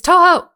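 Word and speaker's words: Touhou: Toho? I don't know how to pronounce it. It's Toho.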